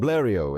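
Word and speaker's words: Blériot: But the headlights are from Blio. Excuse my French. It's like with Pujo. So many extra letters and they're not pronounced the way they should be.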